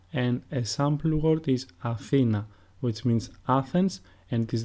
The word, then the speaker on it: Athena: So for example, when I pronounce the word Athena, the emphasis is put on the second syllable and not on the first or the third, because if that were the case, the pronunciation of the word would be Athena or Athina, which is not correct.